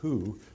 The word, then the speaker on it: Hu: quite recently directed by dr valerie who that's spelled hu at the george washington